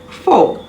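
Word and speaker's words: faux: w-h-o-e-e-r however w-h-o w-h-o-l-e-s-o-m-e wholesome silent x-word fo f-a-u-x silence z-words lazy fair l-a-i-s-s-e-z dash f-a-i-r-e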